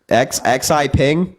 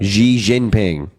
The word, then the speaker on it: Xi Jinping: XI Ping? Are you fucking kidding me? Xi Ping. Xi that his Jinping. Xi? Xi? Xi. Yeah, Xi Ping. No, Xi Jinping.